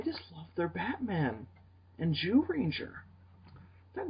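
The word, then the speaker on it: Zyuranger: just like, no, wait, it's not spelt that way. It's spelled Z-Y-U Ranger. It's Japan, man. That's exactly what I said to him, by the way. I've been trying to adjust my way of pronouncing it into something less awkward. Judanger. But they say it Jew Ranger in the fucking show. They just say Jew Ranger. They're the Jew Rangers. Go Jew Ranger.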